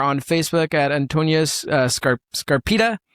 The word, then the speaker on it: Scarpitta: Scarpita. How do you pronounce that in Italian? Scar Scarpita. Scarpita. Scarpita.